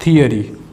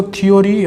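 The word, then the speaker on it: theory: Thank, think और थियरी, इसको थियोरी या थोरी नहीं बोलते, थियरी बोलते हैं, तो थियरी।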